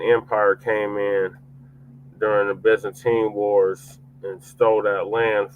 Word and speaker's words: Byzantine: Yeah, the Byzantine. That's how it's pronounced.